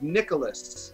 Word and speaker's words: Nicalis: are tyrone rodriguez you are the ceo of nicholas is that how i say it that's how